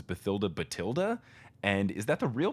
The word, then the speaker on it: Bathilda: keep thinking it was Bathilda well Jim did okay Jim Dale also pronounces it but till they tell that okay I always have read it to rhyme with Matilda which is also spelled